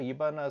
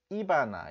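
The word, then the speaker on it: Ivana: 뭐 가까워졌는 것 같습니다 경상도 사람들은요 9시 이렇게 앞에다 강세가 있거든요 그래서 이바나 이렇게 이바나 이바나 트럼프 이바나 트럼프 이게 경상도 사람인데 이렇게 하시면이 바나나 트럼프를 못 알아들을 가능성이 있습니다 그래서 발음을 하실 때는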